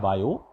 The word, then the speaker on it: Biot: बायो, T silent रहता है, BIOT पढ़ा जाता है बायो।